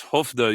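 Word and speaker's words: Skövde: an event in hofda which you don't spell as hofda you spell it as s-k-o-v-d-e as the s-k in swedish turns into h sound apparently yeah that's the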